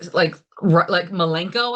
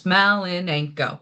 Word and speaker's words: Malinenko: Everyone always tries to say like Malenko, and I'm like, just say all the syllables. Malinenko.